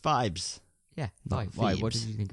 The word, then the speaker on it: Phibes: film The Abominable Dr fibes and it is pronounced Vibes yeah what did you think it was fee is the place feebs feebies fees phobus fibes anyway brilliant film there's